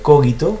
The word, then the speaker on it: cogito: efecto él evocó y cogito pronuncia cogito como si fuera o como si hubiera un agudo después de la ahe se produce así en latín la elevó el ego